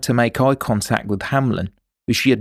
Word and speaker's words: Hamlen: The following week the jury would hear the voice of Matthew Hamlen (pronunciation: Ham-lin), who still hadn’t spoken at the trial.